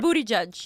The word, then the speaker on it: Buttigieg: Buttigieg, I say his name wrong. Everybody Buttigieg. says his name wrong. It's Right. Booty Judge.